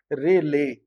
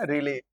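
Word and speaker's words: Rayleigh: थे जिनका नाम था रेले। आप लोग को थोड़ा अजीब लग रहा होगा लेकिन स्पेलिंग है रे और एल ई आई जी एच है बच्चों। है ना रेले।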